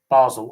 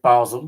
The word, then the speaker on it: Basel: French or German speaking Most people say Basel, which is the German way of saying it, the Swiss German way of saying it.